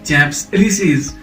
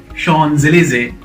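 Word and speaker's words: Champs-Élysées: go by the spelling it's not champs-elysees look at me it is shawn zelizay sean's laser you can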